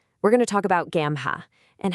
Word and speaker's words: GAAMHA: We're going to talk about Gamma and how they're completely rethinking what community support looks like. So, Gamma, and you pronounce it gamma, is built on this